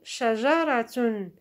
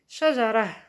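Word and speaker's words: شجرة: Example: shajaratun, shajaratun, or a tree. By the way, we can pronounce it shajarah. Okay, so the ta marbuta, we can pronounce it h.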